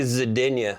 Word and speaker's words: Zidinia: Did I pronounce that right? Zidinia? It's actually Zidinia.